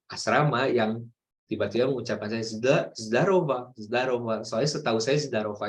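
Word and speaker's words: здорово: Jadi zdarova, tapi ditulisnya ini zdorogo ya, zdorogo, zdorogo, tapi dibacanya zdarova, zdarova, zdarova.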